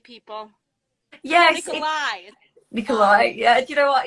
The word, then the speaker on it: Nikolay: it's funny um because even i used to say the name wrong at the beginning which is hilarious oh my goodness peter kept correcting me saying nikolai i was like but it's got a y at the end so also you guys